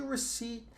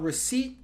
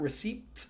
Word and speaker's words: receipt: This word receipt. So this is silent P. So you don't say Okay, yeah, not receipt, but receipt.